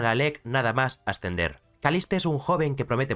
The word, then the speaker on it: Caliste: Bueno, para aclarar, se pronuncia Kalist, pero siendo yo español, pronunciar Kalist durante todo el vídeo será muy complicado, así que lo siento, pero le llamaré Kaliste.